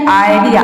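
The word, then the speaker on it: idea: अगर ज़्यादातर डी आता है तो वहाँ पे आई को हम आई प्रोनाउंस करते हैं।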